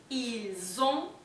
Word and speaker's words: ils ont: Y acá también tenemos la liaison, porque las S final del il y el, ¿sí? Se van a pasar a pronunciar con la O que viene después. Ils ont, elles ont. ¿Sí? Zzz, como una abejita.